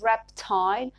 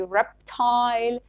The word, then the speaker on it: reptile: Words ending in unstressed ile in words like fertile and reptile are pronounced ile in British English, like we say reptile and fertile, and le in, and some of them are pronounced le in American English.